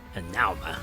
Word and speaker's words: Hanauma: Hanauma, that's how you pronounce it.